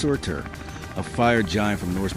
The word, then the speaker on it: Surtr: Geologists gave it a name, Surtsey, after Surt, pronounced Surtr, a fire giant from Norse mythology said to burn the world at the end of time.